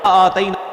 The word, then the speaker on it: آتینا: مد اصلی ہوتا ہے اس کو کھینچنا ہے آتینا اتینا آتینا پہلے آپ ہجے سنیں جوڑ سنیں اس کے مطابق پھر